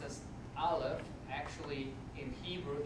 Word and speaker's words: Aleph: It's pronounced as Aleph.